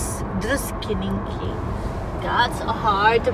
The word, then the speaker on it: Druskininkai: Druskininkey. That's hard to pronounce.